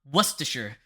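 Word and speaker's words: Worcestershire: It doesn't even h It's It's not even spelled like it has worst in it. It's It's war w like Warester Warchester Warchester like W C E S T E R Sh H I R E sauce.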